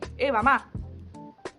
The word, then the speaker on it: Evama: of people have asked me, how do I pronounce this name, username? It's simply Evama.